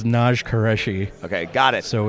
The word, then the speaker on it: Naj Qureshi: a podcast, and then people come up and mispronounce your name to you. It's funny you say it. It's Naj Qureshi.